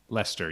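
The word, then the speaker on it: Leicester: no but I'm like like the city Lester yeah yeah like Chester hi to mr.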